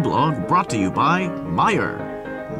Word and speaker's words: Meijer: brought to you by Meyer Meyer it's not pronounced major